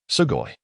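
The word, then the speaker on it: sugoi: pronounced sugoy meaning amazing.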